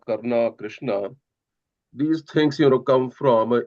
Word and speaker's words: Karna: like we call Rama, Karna, Krishna. These things come from English influence. The real words are Ram, Krishna, and Karna, like that.